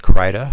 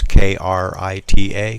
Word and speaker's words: Krita: into a program called Krita, and it's a free photo program. You can download it yourself off the internet. It's K-R-I-T-A, Krita, or Krita. People pronounce it all different ways.